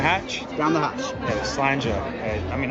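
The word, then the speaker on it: slàinte: But I want to make sure I get the pronunciation right. It's slanje. It's not enough Spanish. So tell me how to say it in the proper Scottish. Oh, slanje.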